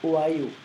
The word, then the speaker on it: Ohio: We don't pronounce the H in French, so in French we're gonna say Ohio.